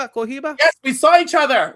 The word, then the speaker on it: Cohiba: That's how you say it, Chohiba. No, that's Cohiba.